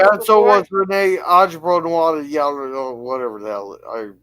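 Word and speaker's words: René Auberjonois: and this Yeah, was and so before- was Renee Ajbronois, or whatever the hell I pronounce it.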